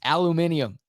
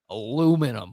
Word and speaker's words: aluminium: It's aluminium. Aluminum.